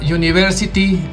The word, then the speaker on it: university: Por ejemplo, al principio diría, empezó con la palabra university, empezaría con la vocal u en español, pero la pronunciación no es u, es you.